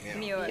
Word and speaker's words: Muir: Is that how I pronounce it? Muir.